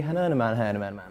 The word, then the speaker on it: Hernaman: I'm and I'm joined by Ellie Hernaman.